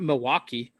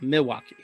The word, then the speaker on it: Milwaukee: gas stations oh sorry i'm not supposed to pronounce the l according to my wife who lived in the midwest it's not milwaukee milowaque no it's you don't pronounce it like that either unless you oh no here i think it's cultural appropriation you say you say milwaukee noel milwaukee oh wow